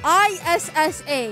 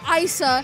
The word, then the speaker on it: Issa: But yeah, my name is Issa, I-S-S-A. And no, you don't pronounce it Issa or Issa. My name is Issa.